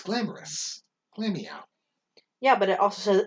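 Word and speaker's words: Glameow: the difference then because you're putting the emphasis on the meow part and you're putting it on the glam part yeah the both of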